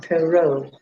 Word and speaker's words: Perot: Yeah, Love, Perot Park has a T on the end of it, but it's still Perot Park.